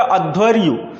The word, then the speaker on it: अध्वर्यु: अच्छे से पढ़ लीजिएगा, अध्वर्यु, है ना।